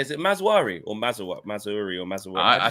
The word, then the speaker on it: Mazraoui: Is it Mazwari or Mazuri or Mazwari? I think it's Mazraoui.